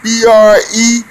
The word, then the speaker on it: Brzezinski: It's spelled Zbigniew, Zbigniew, and Brzezinski, Brezinski.